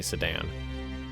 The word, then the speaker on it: Sedan: region right here of sadan I want to pronounce it like that an American it's definitely sedan all right we got